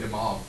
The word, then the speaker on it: de Moivre: By the way, de Moivre is how you say that.